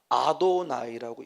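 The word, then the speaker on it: אֲדֹנָי: 그래서 이들은 쓰기는 여호와라고 쓰고 읽을 때는 뭐라고 있냐? 아도나이라고 읽어요. 아도나이.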